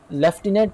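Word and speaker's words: lieutenant: अब लेफ्टिनेंट की जो स्पेलिंग है वो आप यहाँ पर देख लें, वो है LIUTENANT है, हालांकि लायूटिनेंट, लेकिन इसको आप प्रोनाउंस भी लेफ्टिनेंट करेंगे, स्पेलिंग इसकी आप समझ लें।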